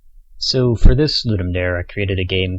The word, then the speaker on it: Ludum Dare: video I will be referring to ludum dare as well ludum dare and not the correct pronunciation which I believe is ludum Dar that's because I learned